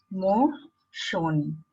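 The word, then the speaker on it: モーション: When there are letters like shun, Asian, ocean, we pronounce it with shon. So motion will be mo shon.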